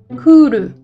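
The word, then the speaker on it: クール: Kuru. Ça s'écrit ku avec un non-longement et le. Ça veut dire cool. Kuru et cool, on est d'accord que ça sonne pas pareil du tout.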